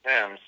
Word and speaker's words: Thames: on the River Thames spell Thames pronounced Thames so what the fillers